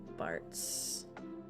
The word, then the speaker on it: Bartz: Bartz. Rhymes with farts.